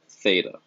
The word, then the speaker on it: theta: that symbol just you know this symbol is pronounced theta you'll see this throughout but again the angle